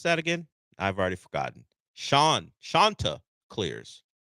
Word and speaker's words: Chanticleers: Shanta Clears. Like Shasta. Shanta Clears.